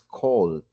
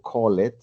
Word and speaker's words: called: Bueno, entonces la pronunciación de este verbo es called. Entonces no digo call it ni call it, sino called.